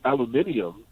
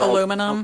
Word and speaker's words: aluminum: So like when Nick says aluminium, they'll know that he's aluminum. Aluminum. You know, even though he said it wrong, you know.